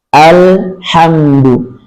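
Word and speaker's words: الحمد: Ha diucapkan dengan bening dari tengah tenggorokan. Mim diucapkan dengan ringan, bibir rapat, dan dialirkan sejenak. Jadi bunyinya alhamdu. Jangan sampai dibaca alhamdu. Alhamdu ya. Bukan lamnya. Jadi jangan cepat, jangan alhamdu tapi alhamdu.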